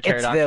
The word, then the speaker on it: pterodactyl: Why can't you hear a pterodactyl in the bathroom? Because the pee is silent.